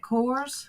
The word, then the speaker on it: Kors: Kors.